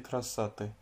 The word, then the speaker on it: красоты: L'accentuation elle est sur la dernière syllabe, sur le i. Красоты. Et pas sur l'avant-dernière syllabe, c'est pas красоты. C'est pas non plus красоты. Non, c'est красоты.